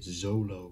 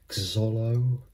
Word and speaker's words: Xolo: an x but a lot of people would pronounce it zolo or zolo at the beginning because of the